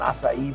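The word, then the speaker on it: açaí: is going to have paninis and smoothies and acai bowls. I just had to learn how to pronounce acai bowl.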